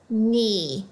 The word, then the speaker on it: knee: You should also notice the KN. The K is silent. This word is knee.